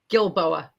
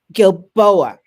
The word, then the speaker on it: Gilboa: your last name correctly gilboa gilboa okay that's why i go with dr it's remarkably hard to pronounce gil boa okay i'm gonna write